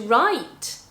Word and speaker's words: write: So when you have the W plus R, then you're just pronouncing the R, or with the word whole, the WH, then you have another example, whole.